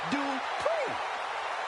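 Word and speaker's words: Dupri: Uh, Michael, it's pronounced Dri.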